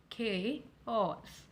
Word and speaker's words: chaos: Chaos. We stress more on the first part, which is chaos.